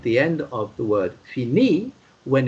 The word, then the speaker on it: fini: It's pronounced fini, and the way to write it, F-I, yes, N-I, and what comes afterwards?